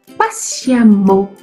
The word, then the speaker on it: patiemment: vais prononcer mon goût patiemment le e devient à pourquoi parce que tout simplement fausse eux se rappeler du mot femme femme avec eux mais suivait de 2m ça se prononce a donc c'est pareil ici patiemment comme prudemment donc j'espère que je